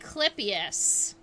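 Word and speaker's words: clypeus: call the in beetles we call that the clippius uh it's spelled c-l-y-p-e-u-s if you are curious about that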